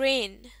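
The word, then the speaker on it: reign: अगला लफ्ज है रेन। रेन इसमें जी साइलेंट होता है।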